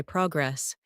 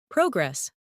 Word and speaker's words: progress: Progress, noun, versus progress, verb. Good.